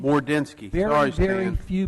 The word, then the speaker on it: Mordensky: For future reference, my name is Mordensky. Mordensky.